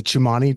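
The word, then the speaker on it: Tsimane: talk after visiting uh the is it the chumani tribe did I pronounce that correctly yeah wow no one pronounces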